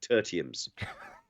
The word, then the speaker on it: Tertium: Tertiums. Please. That's how it's pronounced.